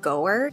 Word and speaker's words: Goer: that right go and which sounds like goer and my dad's legal